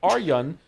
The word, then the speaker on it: Arjun: Thank you, Arjun Design, for the bits. Pronounced Aryan.